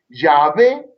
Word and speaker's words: Yahvé: de pequeño, que dominaban, fíjense, muy bien el Yahvé como su padre. Y, A, H, B corta, E con un acento en la E final.